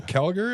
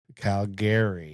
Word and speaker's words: Calgary: But yeah, and it's Calgary. You actually pronounce it Calgary. Yeah. Not Calgary.